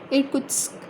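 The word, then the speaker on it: Irkutsk: एंड इरकुत्स्क इज़ अ for centre, ठीक है, इरकुत्स्क, ठीक है, दिस इज़ द प्रोनाउंसिएशन।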